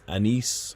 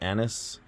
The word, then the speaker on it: anise: That's anise or anise. People pronounce it different ways.